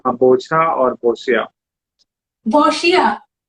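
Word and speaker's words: boccia: Bocha, am I saying it right? Is it bocha? यस, यू Okay, कैन से बोछा और बोशिया। boshia, या बोशिया।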